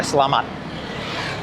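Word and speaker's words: selamat: You just go "Slamat".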